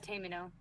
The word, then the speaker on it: Tamino: It's not Tamer, is it? It's Tamino.